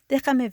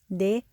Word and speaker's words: Déjame: Déjame ver. Déjame ver. That J is pronounced like an H. Déjame ver. Déjame ver.